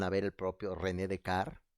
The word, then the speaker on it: Descartes: ver el propio René de car como se dice en francés decar se escribe Descartes pero se pronuncia de car eso sobre el discurso